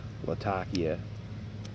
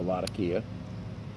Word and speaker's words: Latakia: Its tin note is largely, you get the smoky funkiness that comes from that like musky, smoky Latakia or Latakia, depending on how you pronounce it.